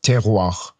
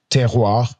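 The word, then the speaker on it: terroir: Uh, first one, it's called uh teroir. It's written, it's spelled t e r o i r teroir.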